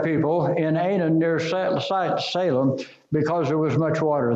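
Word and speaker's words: Salim: John sprinkled back people in Anan near sight Salem because there was much water there the word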